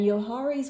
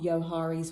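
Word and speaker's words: Johari's: about yohari's window and yohari's window spelled with a j o h a r i is a really interesting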